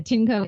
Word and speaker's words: Tineco: It's the Tinco A10D vacuum.